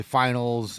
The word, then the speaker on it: final: And just FYI for everybody, it's final. Stanley Cup final. There's no S to it. I've heard it pronounced that way. And even I, as a non-hockey fan, know that that's incorrect.